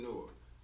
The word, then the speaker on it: Noir: but I was like let's just pronounce it nor like you know so